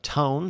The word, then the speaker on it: Toon: There are 16 episodes across 2 seasons of Tone. That's Toon. Streaming now. Spelled like tune, but pronounced tone.